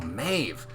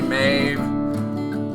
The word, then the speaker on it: Maeve: Oh, Maeve. Maeve, your name is a pretty easy one to rhyme with the word save.